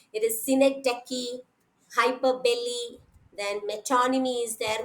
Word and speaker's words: synecdoche: Then synecdoche, that is the pronunciations which many of you, many students are actually uttering in a say mistake, by mistake they pronounce it in different manner. It is synecdoche, hyperbole, then metonymy is there, many are there, we know.